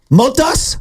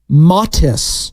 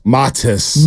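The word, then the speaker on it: Matas: the Chicago Bowl this is an easy one Motas buellis oh I like that close that was close it's actually and this one is a little tricky it's actually pronounced his first name matis matis matis buellis though so very close got the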